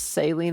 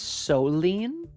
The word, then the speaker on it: saline: My mom pronounces saline as soline.